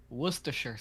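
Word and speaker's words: Worcestershire: Do you want to know the official pronunciation? Yes. Worcers sauce. Apparently, according to Google.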